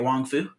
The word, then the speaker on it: Wong Fu: Pronouncing that right, Wong Fu? Yeah.